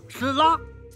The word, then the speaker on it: Tesla: Wrong. It’s pronounced Tesla.